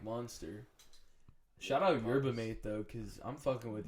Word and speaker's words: Yerba Mate: Yerba Mate. That's how you. Yeah, that's how you say it. Yeah. Really? I mean, I see MATE, and I mean mate.